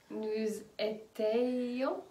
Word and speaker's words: nous étions: Nous étions. Ah oui, alors là, cette fois-ci, nous étions. D'accord? Oui. Donc, c'est IONS. Et on fait bien la liaison entre le nous et étions.